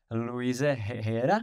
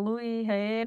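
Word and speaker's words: Luis Heyer: Máš zahraničního trenéra, švýcara Luise Hera, abych to ekl správne. Je to tak? No on áno, v podstate Luisa Heyera. Áno. A vyslovuješ to Louis Heer, že?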